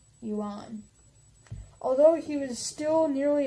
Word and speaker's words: Yuan: dynastic title the Yan spelled why you a and I'm gonna say un yuan although he was still